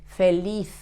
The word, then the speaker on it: feliz: The sound at the end of a word, a Z, in Spanish sounds like that. Feliz, feliz.